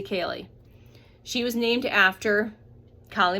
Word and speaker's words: Kali: My first born, her name is spelled just like that, except we don't say Kie, we say Kaye.